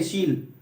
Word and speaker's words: शील: ऐसे करके, तो ये सील नहीं है। इसको अगर कोई पूछे कि ये क्या लिखा हुआ है, तो सीधे सील नहीं, सील नहीं, शील, ठीक है। ये क्या है? शील है।